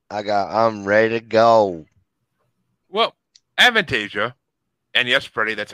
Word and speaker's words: Avantasia: Well, Avantasia And yes, Freddie, that's how it's pronounced because you couldn't pronounce it in my birthday bracket.